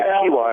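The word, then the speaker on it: Equihua: Interesting that, well, it is an Hispanic name, Equuihua, pronounced Akiwa, and I guess the first name is Miseo.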